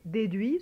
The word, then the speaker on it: déduit: نشوف كمان حاله pris ou déduit, ce sont des participes passés, d'accord. alors des participes passés, là bien sûr on prononce ni S ni T, on les entend pas non plus.